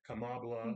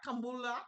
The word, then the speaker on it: Kamala: Yeah, Kamala. Yeah, Kambula.